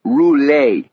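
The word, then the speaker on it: Roulet: Almost like the spinning wheel, but you pronounce it rule, he said.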